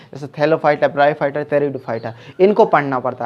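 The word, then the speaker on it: Pteridophyta: थैलोफाइटा English में ही पढ़ें, THALLOPHYT, थैलोफाइटा, ब्रायोफाइटा, टेरिडोफाइटा, पी से इसकी स्पेलिंग शुरू होती है, PTE, टेरिडोफाइटा।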